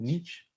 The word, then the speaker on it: niche: Niche. It depends on where you are. If you're here in the US, it's just niche.